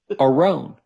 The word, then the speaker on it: Aron: And then people always say, "But your name's Aaron." I thought I said, "No, it's spelled A R O N." But no, I pronounce it Arone.